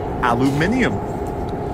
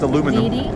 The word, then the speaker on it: aluminium: The body's made of aluminium. And no, Americans, it's not pronounced aluminum. There's a second I in it.